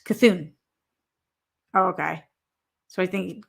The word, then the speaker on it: Cthulhu: Okay, Daryl says Cthulhu is pronounced Cthulhu.